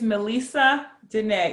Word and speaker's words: Melessa Denee: My real name is Melessa Denee. It's French. It's spelled M-E-L-E-S-S-A, accent over the second E in Melissa, D-E-N-E-E, accent over the second E in Denee.